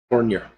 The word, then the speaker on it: Fournier: Tomorrow night, Friday night, we have Tim Fournier is going to be Tim. I always say Tim's name wrong. Tim Fournier. There we go.